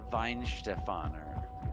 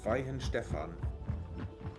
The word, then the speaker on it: Weihenstephan: I was told it was pronounced Weinstefaner. It might be. We have some Germans here. How do you pronounce it? Weihenstephan. Weinstefan. Weihenstefan.